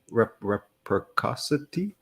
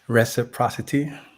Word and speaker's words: reciprocity: that what was that the pronunciation of the word reprocosity something like that reciprocity yeah reciprocity hmm I know reciprocity from